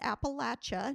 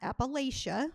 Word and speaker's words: Appalachia: And you pronounce it Appalachia, not Appalachia, just so you know. If you live in that area, they want you to pronounce it correctly.